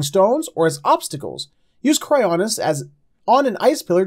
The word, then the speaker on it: Cryonis: How do you pronounce it? I say Cryosis. I don't know if that's... A Cryonis, I'm sorry. Cryonis.